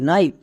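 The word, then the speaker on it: knife: এন থাকলে আমি এই এনকে দেখে বুঝতে পারবো যে এই ওয়ার্ডে কে এর উচ্চারণ হবে না।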